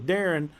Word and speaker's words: Darien: So I go by Darren, but it's spelled Darien.